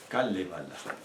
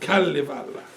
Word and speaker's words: Kalevala: He's a very important god in the Kalevala, which is the Finnish. Kallivalla. That's how you pronounce it. Okay, sorry about The that. Kalevala.